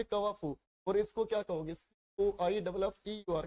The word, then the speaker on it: coiffeur: लेकिन एक one word comment करके बताओ, COI, कवाफू, इसके प्रोनाउंसिएशन होगी कवाफू, और इसको क्या कहोगे?